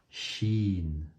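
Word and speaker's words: ش: Donc, shin. Ces deux lettres, elles sont faciles à prononcer. C'est le S qu'on connaît en français et le CH, comme le chat.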